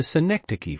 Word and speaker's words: synecdoche: Here, the White House is a synecdoche for the U.S. President or administration. For syllables make up the pronunciation of synecdoche. C. Neck. Da. Key.